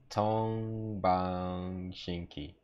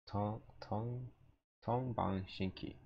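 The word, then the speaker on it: 동방신기: In Korean it's Tongbang Shinki. Tongbang Shinki. Okay, yeah, so it matches the Korean Yeah, pronunciation.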